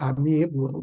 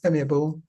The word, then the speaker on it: amiable: I do hear sometimes people saying amiable, but I think the word should be pronounced correctly as amiable.